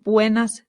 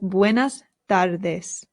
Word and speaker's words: buenas: one r in Spanish does not roll it's only with two r's so it's not Buenas it's just bues buen now why is